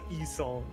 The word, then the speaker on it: Yi Sang: It's also E-song. E-song. E-song. Sorry, dyslexia. We're Korean, idiot. Dyslexia makes me want to pronounce things the way I know Well, it. no, so you're like, pronouncing it like English. Yeah, like Master Yi.